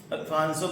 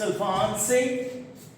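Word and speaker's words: Alphonso: Alfonso Mango, it's Alphonse. Yeah, you can say Alphonse.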